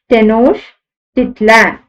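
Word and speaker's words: Tenochtitlan: it in 1325 and it was called Tenors dispronounced as Tenors titla and its palaces and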